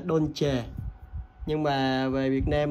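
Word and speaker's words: Dolce: và làm tay nha con này phải đọc đúng của nó luôn là đôn chề nhưng mà về Việt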